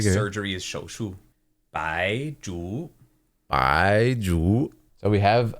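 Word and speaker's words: 白术: Maybe here it would be pronounced Zhu, but Shu is like skill. Ooh, awesome. Or like surgery is shou shu. Bai Zhu.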